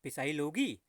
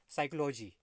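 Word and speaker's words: psychology: पिसाई लोगी। लेकिन ये पिसाई लोगी नहीं है। क्या है ये? साइक्लो, क्या है? क्या है बताइए? साइक्लोलॉजी। ठीक है, हाँ, साइकोलॉजी। साइकोलॉजी। पी क्या है यहाँ पर? साइलेंट है।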